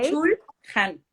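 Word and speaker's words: Byung-Chul Han: Chul Han. ¿Cómo se escribe?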